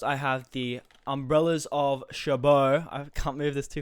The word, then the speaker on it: Cherbourg: Pronounced as Cherbourg.